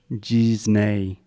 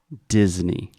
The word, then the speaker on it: Disney: two things here first this is a hard D at the beginning so there's no j or G it is d d Disney Disney perfect secondly the ey